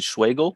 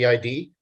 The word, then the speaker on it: Schwegel: Next up for public comment, we have Schwagel. Schwagel. Mr. Schwagel. Okay, this is Schwagel, Schwegel, rhymes with bagel, spelled like Schwegel.